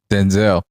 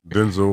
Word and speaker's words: Denzel: So she doing like Denzel. She just let people say her name wrong until you said she corrected it now.